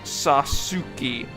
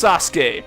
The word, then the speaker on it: Sasuke: But what's worse is that even following the vowels, I still didn't pronounce it right, since the last syllable in his name should be K rather than Ki.